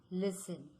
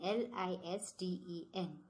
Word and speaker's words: listen: Example, listen. Now see children, in this word listen, L-I-S-T-E-N, we pronounce listen. We don't pronounce as listen. So here we are not pronouncing the letter T.